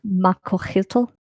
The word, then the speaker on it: macuahuitl: Pronunciation. How is it spelled? MACUAHUITL. Yeah, Makohito. Whittle. Okay. Makohitl.